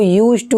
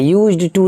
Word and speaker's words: used to: हैं इस तरीके से इसको यूज टू ही पढ़ा जाता है यूज्ड टो नहीं ली साइलेंट रहता है क्वेश्चन को जानते हैं